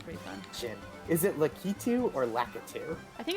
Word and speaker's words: Lakitu: Is his because the Japanese pronunciation would be Lakitu.